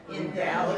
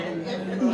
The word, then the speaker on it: invalid: Um this word can mean if I write this, there's two ways to pronounce this word. It's two different words. Which words? Invalid and invalid.